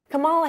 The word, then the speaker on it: Kamala: First you say comma, like the comma in a sentence.